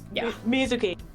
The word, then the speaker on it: Mizuki: Mizuki, I now know is the correct pronunciation.